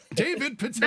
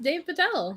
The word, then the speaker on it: Dev Patel: David Patel. David Patel. It actually could be pronounced Dave Patel.